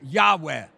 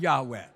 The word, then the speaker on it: Yahweh: cirka 2000 år gammal, ingen vet med bestämdhet hur det här Guds namn bör uttalas. Men den rådande teorin, och det är förmodligen rätt, är Yahweh.